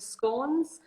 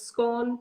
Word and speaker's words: scone: start with your sandwiches move on to the scones so it's scorn not scone and it's not just helpful in